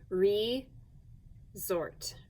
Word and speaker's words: resort: sort resort or resort that s can sound like a z can't it so we are going to use an s here re zort resort but it's an s not a z so